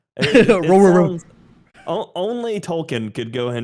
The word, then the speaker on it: Rohirrim: I'm mispronouncing this. December 13th. Rohirrim. Rohirrim.